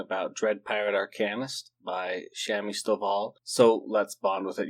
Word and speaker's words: Shami Stovall: I said Shomi Stovall, and then I looked at the covers after I posted it and I realized, hey, that says Shami Stovall.